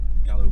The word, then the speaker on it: Gallox: It's known as Gallow Bridge. Okay. It's spelled Gallox.